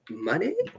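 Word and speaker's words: Moné: Yeah, it's Mercedes Money Mon because Yeah, it depends if you read it how it's spelled. If you read it how it's spelled, it ain't right. But Mercedes money is what she's gone for.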